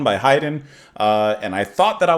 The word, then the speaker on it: Haydn: I mispronounced it before, but I got it now. We're listening to Haydn, and we are properly listening to Symphony Number 1.